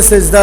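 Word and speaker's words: سجدة: থামলে হাসাকিন হয়ে যাবে উচ্চারণ হইল সাজদা উচ্চারণ কি সাজদা সেজদা না সাজদা বাংলা শব্দ না এটা আরবি শব্দ সাজদা আমরা আমাদের ভাষায় বুঝি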